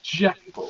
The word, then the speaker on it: Jekyll: then have the guy be like actually it's pronounced jackal so it's not legal which is the accurate pronunciation of Jekyll but um over time dr.